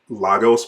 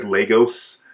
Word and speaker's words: Lagos: in a second is them pronouncing lagos weird they said legos you need lagos brand